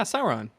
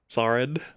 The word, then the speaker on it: Sauron: Why do you keep pronouncing his name that way? What? Theo Waldri Sauron. Yeah, Sauron. Saurin. Saurin. No, that's the Mass Effect one bad guy. No, that's Sarin.